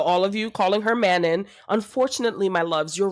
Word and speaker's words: Manon: I do say Manon, and I also get absolutely mocked for that, even though it is in the pronunciation guide. Wait, No, it is Manon. It is Manon. Manon. It Yeah, is. Manon. That's what the Manon. It's the worst name ever, but Manon is correct.